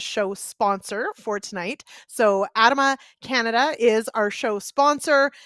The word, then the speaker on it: Adama: for the show that i've always said the name wrong so it is adama okay everybody got that